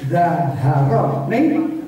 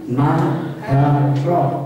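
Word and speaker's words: نهارا: Atau santri ditutup, ini bukan zaharo, naharo.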